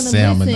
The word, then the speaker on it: salmon: up and we're gonna salmon okay the L is silent oh the L is silence other people want some